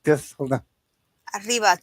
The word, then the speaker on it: arriba: Arriba, 2 R's, IBA. Because you have to roll the R.